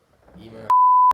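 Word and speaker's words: Eimear: Emer.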